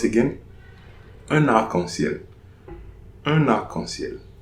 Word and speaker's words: un arc-en-ciel: So, example, un arc-en-ciel. So, ici, here, there is a liaison. I'm pronouncing that liaison.